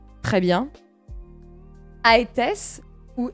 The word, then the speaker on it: Aétès: Ça s'écrit Aétès, mais il y en a qui disent Étès. Donc, Aétès et Étès, je vais dire Aétès, moi, personnellement.